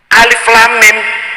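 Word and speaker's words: الم: ilmu tajwid kita baca alam itu. Tulisannya podo kan? Alam karo alif lam mim podo. Alif lam ro, alar. Alif lam mim shad, almas. Yasin, yas. Salah. Bacanya alif lam mim.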